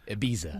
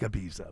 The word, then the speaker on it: Ibiza: Is it called Ibiza? Is that how you say it? Ibiza. Ibiza. Because they No, but it Spain- says it looks like Ibiza, but it's Ibiza. That's the American way of saying it.